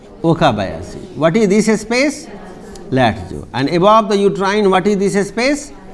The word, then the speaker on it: Latzko: This is called Latzko. K is silent.